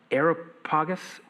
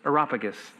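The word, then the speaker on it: Areopagus: Uh, I always pronounce this wrong. Aeropagus. Aeropagus. Aropagus.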